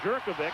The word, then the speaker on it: Jerkovic: Knapp, Taylor, McGuire, Jerkovic, and that's the way he wants it pronounced, and Hall up front.